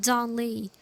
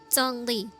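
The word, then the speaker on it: Zhongli: pronounce his name correctly it's like it sounds like but it's like J but not really J because it's Z it's because it has h it's always like J when you pronounce it in Chinese to my Chinese people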